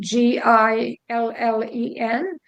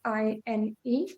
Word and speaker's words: Guylaine: Gillen, just like in French, in England, you pronounce it like Gillen, but it's Guylaine.